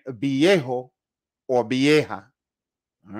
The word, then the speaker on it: viejo: Most people are going to pronounce this as a soft B sound, okay?